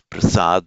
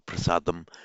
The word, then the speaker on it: Prasad: it's in Modern India in the languages of Northern India Prasad and Southern India it would still be pronounced Prasad that or prasadam modern Northern India Prasad